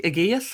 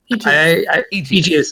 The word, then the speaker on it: Aegeus: Yes, we did have Wanderer in Anonymoose, who was featured in the show as Duke Aegeus, I believe your name is pronounced. Aegeus, I think, is the pronunciation, and I think I was a friend of the Duke, technically.